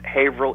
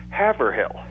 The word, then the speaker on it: Haverhill: about that Haverhill England is pronounced Averell England just like we do here but nowadays there's so